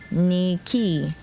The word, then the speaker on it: Nike: in book whatever okay Nike he's a Greek word pronounced Nicky and it is synonymous